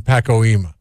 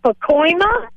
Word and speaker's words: Pacoima: he also is from Paco Hema Jackie how do we say it Jackie I'm sorry go ahead it's Pacoima and it's north of San